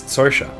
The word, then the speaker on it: Saoirse: Um because Saoirse is technically not pronounced er. It's or. It's Saoirse. Which is because it's it's Gaelic in in origin.